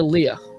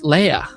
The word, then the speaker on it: Leia: see how General the Donna says the Princess Leia instead of Leia oh yeah yeah he said yeah it says the information yeah Princess Leia yeah so I guess up until now it's it's either Leia or Leah so it's I like the way he says